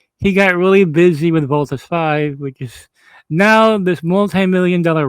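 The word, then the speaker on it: Voltes V: If you guys want to see Voltus V Legacy, it's actually Voltus 5. If you want to pronounce it, but if you want to look it up, it's Voltus V Legacy.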